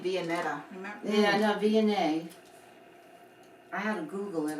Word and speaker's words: Viognier: Yeah, no, Viognier.